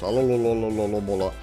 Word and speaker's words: Alomomola: That name is very hard for me for whatever reason to pronounce. Alomomola. That's how I'm gonna be pronouncing its name from now on. That's literally how you say it.